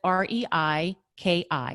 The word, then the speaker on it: Reiki: differently so you'll see it begins with r e i k i so that is reiki when we break it down rey i always think of rey like the sun and